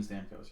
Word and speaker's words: Stamkos: ] menace on the ice you think that's pronounced stamkos are you serious i'm asking steven stamkos yes that's how that's who's been on that